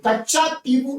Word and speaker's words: कच्चातीवु: टीबू द्वीप कहते हैं, जिसको प्रधानमंत्री कच्छ द्वीप कर रहे थे, लेकिन कच्चा टीबू इसका ओरिजिनल आपका प्रोनाउंसिएशन है।